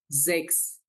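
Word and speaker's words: sechs: জেক্স। জেক্স। তাহলে এস হচ্ছে ওয়ার্ডের শুরু থাকলে আমরা কি বলি? জে এর মতো বলি, আর যদি এস এর শেষে হয় তাহলে এস এস এর মতো উচ্চারণ হয়।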